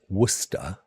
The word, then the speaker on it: Worcester: In the UK, we pronounce Worcester, or Worcester, as Worcester.